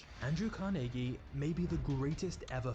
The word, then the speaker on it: Carnegie: was born in Scotland which is the reason I'm saying carnegi instead of carnegi because this is how the Scots actually pronounce it but Andrew's start in